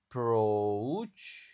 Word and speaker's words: approach: This approach approach approach. Nah, di sini enggak ada U tapi malah ada pengucapan U-nya kan. Approach o. Jadi, oa dibaca ou.